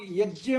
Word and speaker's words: यज्ञ: देखिए, इसका शुद्ध उच्चारण संस्कृत के हिसाब से ज्ञान है, ज्ञान। अगर आप कभी स्वामी रामदेव या आर्य समाज में विश्वास रखने वाले लोगों से सुनेंगे तो वे लोग यज्ञ बोलते हैं, यज्ञ। वे लोग यज्ञ नहीं बोलते, यज्ञ। ये शुद्ध उच्चारण है, यही शुद्ध है, यही होना चाहिए, परंतु हिंदी में उसको ज्ञ के रूप में बोल देते हैं।